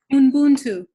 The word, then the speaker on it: Ubuntu: As people are typing, I want to thank Ashia for correcting our pronunciation. Ubuntu, I believe. Thank you. Correct. Ubuntu.